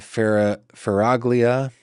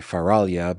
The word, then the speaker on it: Faraglia: Assistant County Prosecutor Anna Faraglia, which should actually be Faralia, but we're in the States, we pronounce that G, argued the public defender's office rarely seeks assignment in similar cases.